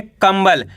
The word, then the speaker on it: कंबल: इसका उच्चारण अपन को आधा म के रूप में करना है। वो क्यों करेंगे? का के ऊपर अनुस्वार की मात्रा है। इसके बाद वाला अक्षर ब है।